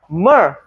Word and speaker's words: myrrh: not mir, myrrh.